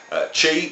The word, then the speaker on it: chi: carry on looking at the Greek letter chi, which is pronounced sh like a snake noise, and you know it as the X in the English language, but it's a different pronunciation in the Greek language.